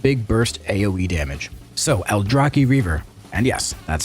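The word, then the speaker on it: Aldrachi Reaver: simple straightforward and big burst AOE damage so alrai Reaver and yes that's how you pronounce it witness the might of the old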